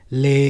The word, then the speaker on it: Leh: like from uh lay lay is a place in jammu and kashmir in the northern part of india and it is spelt as leh and that's how i